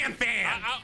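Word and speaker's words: Ranfan: In the English dub, they said Ron Fon.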